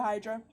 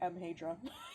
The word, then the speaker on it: Hadra: Do you take your books up to Hydra? Yeah. Sorry, I keep pronouncing her name wrong. Her name's actually Hadra. Hadra. I keep saying Hydra.